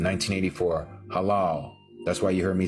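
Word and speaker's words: הלל: This is the original pronunciation, 1984, halal.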